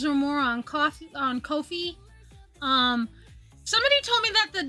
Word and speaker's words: Ko-fi: $3 or more on Ko-fi. Somebody told me that the devs of Ko-fi pronounce it Ko-fi, not Ko-fi, not coffee.